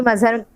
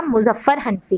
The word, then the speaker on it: मुजफ्फर हनफी: सबक का नाम एक्चुअली मजहर गलत प्रोनाउंस हो गया, मुजफ्फर हनफी है।